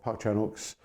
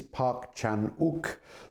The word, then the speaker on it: Park Chan-wook: as it were of Park Chanuk's uh revenge trilogy. Uh so I think we might start with Park Chanuk himself. Let's get the name clear first. It is Parkchanuk. The W is not pronounced.